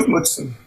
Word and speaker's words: Mutsun: Do you think that your study of Mutsun, or how do you pronounce it? Mutsun.